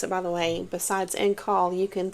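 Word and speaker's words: en caul: And I looked up how to pronounce it, right? But it's in call. Some people say in call. It's E-N and then C-A-U-L, which basically means it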